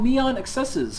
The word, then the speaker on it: NeonXSZ: at a game called neon excesses or neon xsz by intravenous software me on excess is actually the official pronunciation of the game's title according to the developers website you can go look